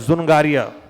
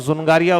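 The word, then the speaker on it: Dzungaria: सनकारियां कहा जाता है सुनगरिया है तो दुश्मन गाड़ियां लेकिन दी साइलेंट राहत है तो सुनगरिया उसको बोला जाता है ठीक है तो फिर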